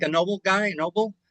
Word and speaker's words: Noble: Um, so ren Noble, it's pronounced noble. In English, I think they call him like like like a noble guy, noble, but in Spanish it's noble.